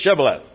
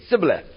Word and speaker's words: Shibboleth: They'd say Shibboleth. And the guys from Ephraim couldn't pronounce the SH sound. And they'd say Sibboleth.